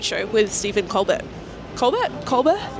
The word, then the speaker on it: Colbert: Colob. It's Coar. Coar. I'm gonna say he's pronouncing his name wrong. Sorry. It's like me saying my name's Jeh.